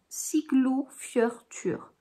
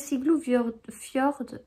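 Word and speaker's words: Siglufjörður: Siglou Fjörtur.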